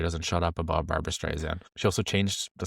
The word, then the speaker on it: Streisand: as to not say Streisand, but to say Streisand with an S. With an S. As opposed to a Z. It's Streisand with an S. Streisand.